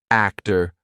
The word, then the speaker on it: actor: But if a T comes after any other consonant, a lot of times it's going to be pronounced as the true T. For example, actor, doctor, empty. Okay, so we're going to be using the true T sound in those words.